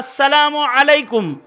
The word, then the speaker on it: আসসালামু আলাইকুম: আইন উচ্চারণ সুন্দর করে বলবে। আসসালামু আলাইকুম না, আসসালামু আলাইকুম।